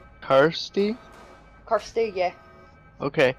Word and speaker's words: Kirsty: Kirsty. Kirsty. Yeah. Okay. I thought it was Christy.